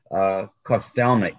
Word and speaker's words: Kostelnik: That's the Western European version. The Slovak is Kostelnik, and it actually means keeper of the church.